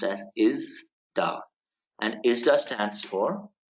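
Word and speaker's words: ISDA: member of an organization called as ista it's pronounced as is da and is the stands for International Swaps and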